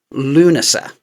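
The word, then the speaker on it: Lughnasa: Cause the word is Lugnasa, but it's dancing at Lunasa. You don't pronounce the G and the H because it's Irish.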